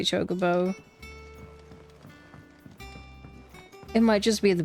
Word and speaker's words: chocobo: I hate how they say chocobo.